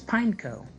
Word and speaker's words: Pineco: how is it pineapple you don't pronounce the e it's pineco i always thought it's